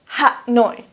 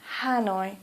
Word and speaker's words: Hanoi: so for example Hanoi please don't say h noi please say Hanoi or for example Kolkata